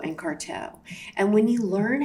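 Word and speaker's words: Carteaud: Okay, so I'll just tell you how it's pronounced. So it's basically congenital and reticulated papillomatosis of Gougerot and Carteau.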